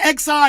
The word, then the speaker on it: Xi: X-I. It's pronounced Xi.